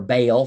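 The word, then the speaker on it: Baal: god of the fields BAL of the fields it was called or or Bale there's different ways to pronounce that word and Jewish farmers at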